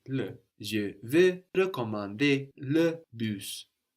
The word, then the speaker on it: recommander: Je vais recommander le bus. So recommander, for example, and réparer, réserver have two different E sounds at the beginning, no? Re or re.